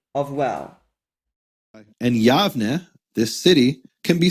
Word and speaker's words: Yavne: Clearly it's not Yaune. Nehemiah Gordon's argument is this. We know that this name is pronounced as Yavne. It's spelled with a soft bait, and this is also the way it's written in the Tanakh. We know it's Yavne with a v.